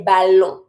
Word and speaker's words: ballon: I know there's a double L. When you practice pronunciation, you may know that when there's double L, you pronounce the ya sound. This one you don't. So, you just pretend when you say it that there's just one L and you say ballon.